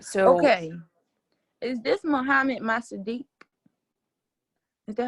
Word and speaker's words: Mohammad Mossadegh: Is this Mohammed Masadiq? Is that how you say it? yes, Mohammad Mossadegh.